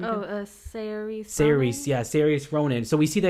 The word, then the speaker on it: Saoirse: I can never pronounce her name. I think Saoirse Ronan.